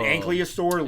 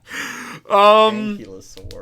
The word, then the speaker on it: ankylosaur: But like rock dragon, and you kind of lean more into a dinosaur, like an ankylosaur look. Ankylosaur, yeah. Why do you say ankylosaur? Because it's spelled ankylosaur.